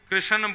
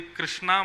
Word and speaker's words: कृष्ण: लाल की जय बंधुओं कई लोग इस नाम को अशुद्ध बोलते हैं कई लोग कृष्ण बोलते हैं, कई लोग कृष्ण बोलते हैं, कोई कृष्णा बोलता है। भगवान का नाम शुद्ध उच्चारण करो। नाम क्या है? कृष्ण।